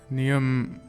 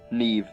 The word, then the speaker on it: Neve: Neum. Wrong. Neve.